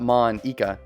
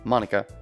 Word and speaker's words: Monika: name at all yeah it's not mon ika it's monica also that joke makes